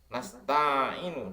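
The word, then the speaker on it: نَسْتَعِينُ: Nah, lafaz nasta'inu dibaca fathah huruf nun yang ada pada permulaannya menurut qiraah semua ulama kecuali Yahya ibnu Sabit dan Al-A'masi, karena keduanya membaca kasroh, tetapi yang dilakukan oleh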